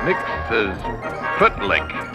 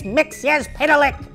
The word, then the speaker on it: Mxyzptlk: hate those infernal Heroes they never say my name right mix say footlick Mr Mel flick Mr Mixel Plick Mixel pck it's mixia pck not kill tip zum knock knock who's there